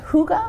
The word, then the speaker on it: hygge: because it's spelled very differently yes so it's pronounced hygge I almost tell people like toga toga but